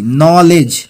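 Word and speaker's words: knowledge: নলেজ মানে হচ্ছে জ্ঞান, এখানে কেটা সাইলেন্ট থাকবে আর এখানে ডিটা সাইলেন্ট থাকবে। কে এন ও ডাব্লিউ এল ই ডি জি, নলেজ, ঠিক আছে?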